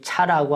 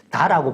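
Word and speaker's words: 茶: 그래서 이 차라고 하는 글자는 도에서 비롯됐는데 우리나라에서는 차라고 발음하기도 하고 또 도라고 발음하기도 하죠. 다라고 발음하기도 하죠.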